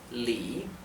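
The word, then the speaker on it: 李: nombres de frutas y se pronuncia con el tono que baja y sube que es el llamado el tercer tono Li también es el nombre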